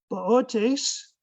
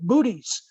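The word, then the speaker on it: Boötes: is the other constellation that I mentioned earlier boat ace right here and if you don't if you have trouble pronouncing a word like that with the moon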